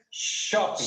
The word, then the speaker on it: shopping: Different of the pronunciation, look at this, you say, chopping, the pronunciation chopping, esta es shopping, como viendo silencio, shopping, shopping.